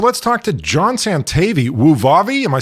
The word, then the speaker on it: Wuvavi: all right so let's talk to John Santa vwoo Vavi am I saying that right yep that's perfect